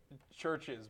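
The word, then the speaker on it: CHVRCHES: Churches, but the band that's spelled with the V, Yeah. not the U.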